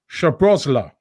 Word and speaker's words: Szoboszlai: That's not how he's spelled because it's SZ, isn't it? But he says Szoboszlai.